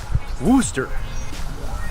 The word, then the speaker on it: Worcester: going next Worcester Massachusetts which have you ever seen mooster written out I'm gonna put it on screen right now yeah I know what it looks like but they actually pronounce it Worcester I'm betting back there it's whoo stuff anyway we're gonna be